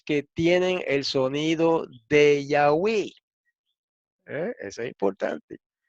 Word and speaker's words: Yahweh: En la poesía samaritana siempre rimaban el nombre sagrado con palabras que terminaban en we. Entonces, esto señala hacia la pronunciación Yahweh y no Yahuwah o Jehová, como, ¿verdad?, pretenden algunas otras personas.